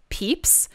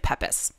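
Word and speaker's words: Pepys: whose name was samuel apparently it's pronounced peeps but it's written p-e-p-y-s it looks like peppas oh so he's not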